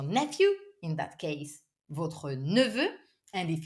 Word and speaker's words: neveu: In that case, votre neveu. And if it's a girl, c'est votre nièce. Votre nièce. It's not easy to pronounce. Neveu with the neutral E sound in French.